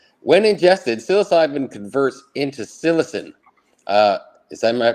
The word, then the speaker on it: psilocin: When ingested, psilocybin converts into psilocin. Am I pronouncing that right? Psilocin?